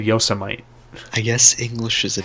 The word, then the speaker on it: Yosemite: Oh, speaking of saying words wrong, you said Yosemite in the video. How's it pronounced? It's Yosemite.